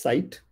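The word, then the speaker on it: Scite: Then we have one more app, which is called as Sight. S is silent, it is called as Sight.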